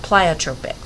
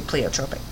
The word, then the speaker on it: pleiotropic: thing we have is called pleiotropic some people will pronounce it pleiotropic I say pleiotropic but basically this is